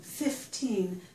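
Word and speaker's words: fifteen: it's at the end, I would normally stress the second syllable. Up here, though, when it's followed immediately by a noun and it's not the last word in my phrase or sentence, I normally stress the first syllable.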